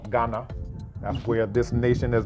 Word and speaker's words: Ghana: So it's not a G sound either. People in the country called Ghana, they actually can't even pronounce it right, but the GH is a R sound, R. And if you go to places where they have that in the language, they'll actually pronounce it correctly.